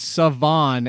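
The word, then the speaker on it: Salvon: By the way, did you know his first name is not pronounced that way? How it Savon? Looks either? It's not. Yeah, Savon.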